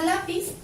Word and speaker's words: lápiz: Tenemos la palabra lápiz, si separamos en sílabas queda así, se carga la voz también en la penúltima sílaba, lleva acento ortográfico porque termina en Z.